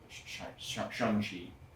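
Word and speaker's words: Shang-Chi: I mean, even Shangi Shani, it's the proper way to say it.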